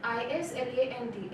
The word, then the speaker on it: island: For example, the word island, I-S-L-A-N-D, S should not be pronounced, island.